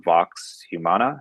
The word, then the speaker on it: Vox Humana: So before I play it, I just want to say that the music in it is from Vox Humana. Is that how you pronounce it?